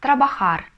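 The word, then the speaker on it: trabajar: есть начальными формами глаголов так как все глаголы в испанском заканчиваются на букву Р то инфинитив мы всегда будем читать старением на последний слог Ну например трабахар работать умер есть бибир жить везде тут ударение на последний слог Понятно Пишите в комментариях обязательно если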